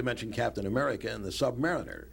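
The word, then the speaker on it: Sub-Mariner: himself not to mention Captain America and the Submariner right or is a submar Submarina you said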